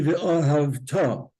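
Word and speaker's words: וְאָהַבְתָּ: Over here, it should be v'ahavta. If you'll notice, I wrote darker the syllable where you're supposed to stress in all of these words.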